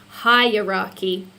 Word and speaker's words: hierarchy: very very close the word you're trying to pronounce is hierarchy hi aren't you yeah hi rocky so hi